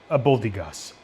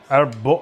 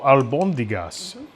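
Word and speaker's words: albóndigas: And but this is abundas. I know I'm mispronouncing that all the time. Albondigas. Albondigas.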